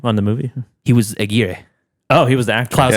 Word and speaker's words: Aguirre: I think Aguirre, Wrath of God. I think Aguirre is probably the correct pronunciation.